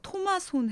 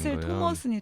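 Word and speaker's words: トマソン: 쓰신 책이잖아요 그래서 사실은 초예 술 토마 손이라고 일본 사람들은 발음하는데 이제 한국말로 이제 외래어 표기법으로 들어오다 보니까 초 토마슨이 된 거예요 근데 아마 이거 들으시는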